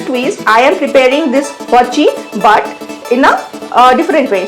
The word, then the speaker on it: Hwachae: So Hwachae. Hwachae. This is the pronunciation.